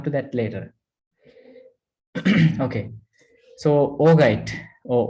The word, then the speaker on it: augite: Okay, so augite or augite, sometimes it's pronounced as augite, but I prefer pronouncing it as augite. Some people pronounce augite, some people pronounce augite, right?